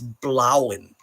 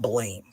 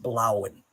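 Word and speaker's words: Bláinn: side it's worth noting there's a dash above the a which means that the name is blowen not Blain it's pronounced blowen and blow means blue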